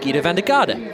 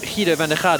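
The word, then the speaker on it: Giedo van der Garde: But or Guido van der Garde, as I think I should actually pronounce it, seeing as we're here in the Netherlands, one of the top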